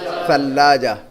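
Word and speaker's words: ثلاجة: تلفظ, اس کا تلفظ پرونانسیشن ضروری ہے, صحیح یاد رکھنا. ہم اردو کے انداز میں عربی بولیں گے تو مزہ نہیں آئے گا پھر, ٹھیک ہے. ثلاجہ بولیں گے, ثلاجہ نہیں کہیں گے, ثلاجہ.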